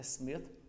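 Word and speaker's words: Smyth: A pronúncia do nome dele certo é Smith, escreve com Y, tem gente que vê o Y e acha que tem que fazer uma pronúncia diferente, mas é Smith igual qualquer outro Smith.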